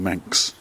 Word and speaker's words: Maak's: Many of the books spell the name here M-A-A-K-S, but it's said that locals pronounce it more with an N, a sort of Manx.